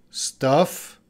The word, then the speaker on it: stuff: Very different pronunciation. That vowel sound is very different. So this is a staff, staff, and this is stuff, staff, stuff. I know pronunciation is difficult, but these two words do not have the same pronunciation.